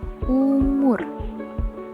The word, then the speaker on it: oemoer: Ciri yang kedua, huruf OE yang dibaca U. Contoh, pada ejaan OEMOER dibaca umur. Pada ejaan KAMOE dibaca kamu.